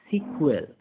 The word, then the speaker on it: SQL: That where you यूज़ SQL pronounce as सिक्वल और structured query language.